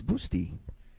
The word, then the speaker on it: Bustamante: go so nick patrick it's pronounced like busty by the way so it's boosty yeah because busty really